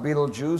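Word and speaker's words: Betelgeuse: as bright as our son then there's Beetlejuice pronounced Beetlejuice spelled beltagies Beetlejuice the gigantic star in the shoulder Orion well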